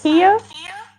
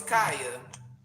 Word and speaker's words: Khia: I thought it was Kaya, It's because in pronounced the Kia. Muslim community, the KH is like Kalia, Khalid. So I thought it was Kaya. I didn't know it was Kia.